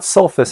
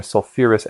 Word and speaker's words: sulfurous: Notice once again, it's not sulfus acid. Somebody at some point decided that sulfus acid would sound funny, so they put that extra couple of syllables or a couple of letters on there, sulfurous acid.